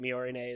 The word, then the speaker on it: Miorine: No, it's Miorine. No. Miorine. Yeah, Miorine is trying to escape the school for Suletta to rescue her, but Miorine is like, don't do this, why are you doing this?